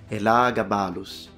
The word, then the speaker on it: Elagabalus: you who love Latin, I will pronounce now the nickname of the emperor once within the correct reconstructed pronunciation in Latin. Elagabalus. Phonemic vowel length expressed. Now I'll just say Elagabalus for the rest of